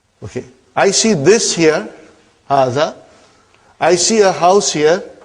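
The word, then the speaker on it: هذا: See, it is pronounced like haza. But this alif is not written.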